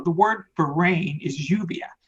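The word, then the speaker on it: lluvia: word for rain is Juvia it's spelled ll ubi a the double ELLs make a Y sound in Spanish so I'm saying the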